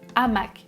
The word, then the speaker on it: hamac: Par exemple, hamac. Vous voyez qu'il apparaît avec un astérisque. Donc, je vais dire le hamac sans élision et au pluriel les hamacs sans liaison.